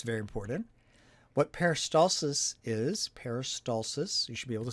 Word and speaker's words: peristalsis: of anatomy that's very important what peristalsis is peristalsis you should be able to say that word